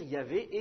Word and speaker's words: Yahvé: Nous, par convention, on prononce Yahvé, quelque chose comme ça, mais c'est une convention, c'est peut-être la prononciation primitive, mais on en discutera une autre fois si vous voulez.